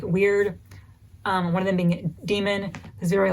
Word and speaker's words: Damon: I think it's actually pronounced Demon in the audiobook for whatever reason.